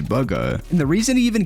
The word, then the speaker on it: Bugha: Because of this, Bugha would get hooked very early on and eventually would come up with his name, which isn't pronounced Bugha but actually Bugha.